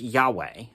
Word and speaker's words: Yahweh: written y h v h but anyway it's pronounced yahweh so if you hear the name yahweh you